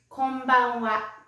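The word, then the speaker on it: こんばんは: is good evening good evening in japanese is konbanwa next i'm going to teach you how to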